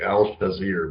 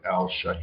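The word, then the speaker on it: Al-Shaair: It's the guy with a really hard name to pronounce. So it's got like it's like I always want to say Al Shazir, but it's like Al Shahir.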